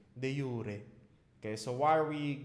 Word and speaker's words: de jure: I don't even mind de jure, or some people pronounce it de jure, right? But it's in classical Latin, it's supposed to be de jure.